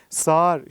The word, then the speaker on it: sağır: işlemleri de birebir uygulayacağız Öncelikle yumuşak G yi göndereceğiz yumuşak G'nin arkadaşı ünlüsünü göndereceğiz Ve geriye kalan o ğ den geriye kalan ses prim özelliğini a ünlüsünü devretmek suretiyle buradaki a ölüsünü iki sesbirim uzunluğunda uzatarak iki defa telaffuz ettireceğiz ve telaffuz da diksiyonlu